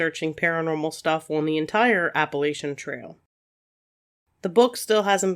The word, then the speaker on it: Appalachian: It came from an Indian tribe, and so I think the proper pronunciation is Appalachian, but it kind of depends on where you're from. Where I'm from, we say Appalachian, so that's how I'm going to say it.